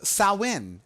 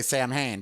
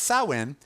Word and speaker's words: Samhain: Ireland and it was sow in as they pronounce it over there some people say Samhain but no it's so in and this was a